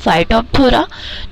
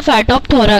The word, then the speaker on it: Phytophthora: ठीक है, पी H silent रहता है, पी साइलेंट। तो फाइटन का मतलब है प्लांट एंड थोरा का मीन्स है डिस्ट्रक्शन। तो मीन्स होता है फाइटोफथोरा का कि जो कि